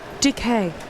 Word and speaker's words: Duquet: D-U-Q-U-E-T. Bouquet. Okay. Like bouquet.